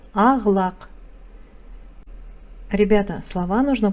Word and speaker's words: ақ-лақ: Пишется ақ-лақ, читается ағлақ.